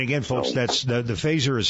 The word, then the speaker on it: Phazzer: the uh you don't need to register the phaser it's not not like a firearm in that